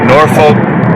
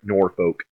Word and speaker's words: Norfolk: This is an interesting case because And Lydia is right, it actually is Norfolk. It's not Norfolk. It's not how it's said. And anybody from England, like literally anybody from England, would probably give you a strange look, because that's what Norfolk is named after.